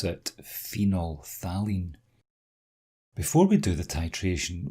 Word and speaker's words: phenolphthalein: we use is this funny name here you pronounce it phenolphthalein before we do the titration we add phenol